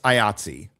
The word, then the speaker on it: IATSE: But I would say it's IATSE, the one that rhymes with Nazi a little bit.